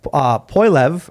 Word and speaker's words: Poilievre: their experts for, among other crimes, retweeting Pierre Poilievre, how do you pronounce that?